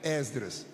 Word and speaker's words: Esdras: Muita gente pronuncia, já que é reunião de obreiro, muita gente pronuncia Esdras. Se você puder pronunci e aberto Esdras, mas se disserdra, nem por isso nós vamos brigar.